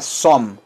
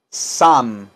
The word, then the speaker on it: some: esta palabra se pronuncia no se pronuncia some se pronuncia Sam si la bien sirven